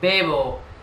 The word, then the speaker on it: bebo: verbo beber para decir dicen vivo pero es bebo bebo porque es una e bebo vale Yo tenía un